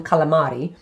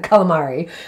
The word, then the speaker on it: calamari: so you can imagine calamari i'm saying it in italian in calamari like right the little